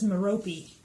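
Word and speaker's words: Merope: Mehrope. Meh-Roh-Pee? Let me see. It says it's Meh-Roh-Pee, which I've heard people say that, but I was like, what?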